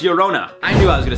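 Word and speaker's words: Llorona: think annabelle i would say annabelle devwa said lerona this is how i said it it's pronounced yorona i knew i was going to mess it up and i'll say it again i was i said lila rona and i knew it was wrong but i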